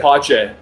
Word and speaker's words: Pothier: is your name Pothier or Pothier? How do I say it? Pache.